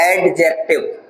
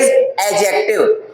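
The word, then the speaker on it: adjective: हम कहते हैं एडजेक्टिव। इट इज नॉट एडजेक्टिव। इट इज एडजेक्टिव। डी जो है इसमें साइलेंट होता है।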